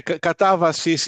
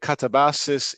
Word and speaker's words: katabasis: Yeah, Katabasis in Greek, Katabasis in English.